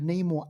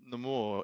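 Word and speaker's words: Namor: tell us the reason so the the translation of the more is uh is an expression of without love whereas Neymar is with love that's what I heard is is the difference is the difference between why um they pronounce it the more yeah because Amor means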